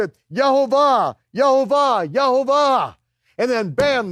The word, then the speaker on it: Yehovah: And then he finds, here's the second time, he finds it, Yod-Heh-Vav-Heh, with the vowel pointings, and he pronounces it, Yehovah, Yehovah, Yehovah.